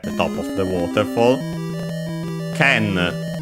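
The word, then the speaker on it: 剣: word like it is, the accent is on the ke, so ken. If it were unaccented, it would be ken.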